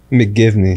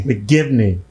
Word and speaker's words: McGivney: god herself yes mcgive me mcgivney that's right say it right you say my name